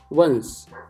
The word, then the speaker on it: once: प्रोनाउंसिएशन है वंस।